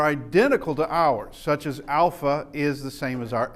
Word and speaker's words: alpha: But okay, so we have alpha, which is pronounced like a long A, as in father, and also can be a short A, as in bat.